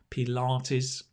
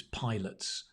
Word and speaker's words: Pilates: exercise or workout pilates it's interesting how we pronounce that right for ages i thought it was pilots what are you doing mum you're doing pilots no keith i'm doing pedal artis oh pilates right um you know there's